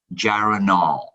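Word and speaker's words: geraniol: know it's gg but we got the correct pronunciation yes uh it gg is gyroneal gyranol so it's actually two molecules of uh gyranol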